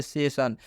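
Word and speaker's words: session: आई आता है तो इस आई का उच्चारण अ से होता है जैसे सेशन फिर स बोल रहे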